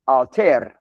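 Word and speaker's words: áttir: And the plural plural is pronounced artir with a slightly rolled R at the end.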